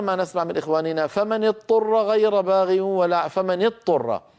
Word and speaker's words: اضطر: فمن اضطر ماذا يقول من لم يتدرب على هذه الكلمه يقول فمن اضطر فينطق طاء مشدده والعرب لا تفعلوا هذا يعني يدغم الضاد في الطاء والضاد لا تدغم في الطاء لابد من بيان الضاد وبيان الضاء جاءت هذه الكلمه ومشتقاتها